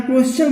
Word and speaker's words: question: जैसे यहाँ कुछ एग्जाम्पल लिया हुआ है, जैसे क्वेश्चन QUESTION, अब TION आया ना यस के आगे, तो यहाँ क्वेश्चन बोले, यहाँ उच्चारण चा आ रहा है, ठीक है, क्वेश्चन।